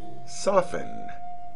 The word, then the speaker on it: soften: being pronounced centuries ago you should never pronounce the T in the following words listen never listen hasten never hasten fasten never fasten soften never soften for